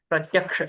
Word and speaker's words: प्रत्यक्ष: छ नहीं क्ष है जो क और श से मिला है क तो तो कबूतर वाला आप जानते ही है और दूसरा जो श है वह षट्कोण वाला है प्रत्यक्ष इस प्रकार से इसका उच्चारण करना चाहिए प्रत्यक्ष मन्यत इस प्रकार